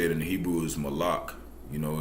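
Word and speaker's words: מלאך: or how you say it in Hebrew is Malak you know it's it's king or messenger and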